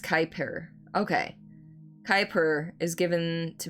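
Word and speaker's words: Kuiper: Pronounced Kyper.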